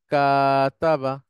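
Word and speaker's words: كاتَبَ: তা থার্ড রেডিকেলে বা ফাস্ট রেডিকেলের পরে একটা আলিফ বসে যাবে তখন উচ্চারণ হবে কাতাবা এটাই হচ্ছে ডিরাইভ ফর্ম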